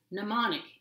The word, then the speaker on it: mnemonic: It's got a silent M at the beginning and a non-silent M partway through. I have trouble holding the board up, so there it is. The word is mnemonic, and it means a memory device.